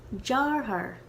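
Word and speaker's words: deartháir: the word for brother this one is so hard for me to say and i don't know why maybe because there's like too many er sounds in a row all right but here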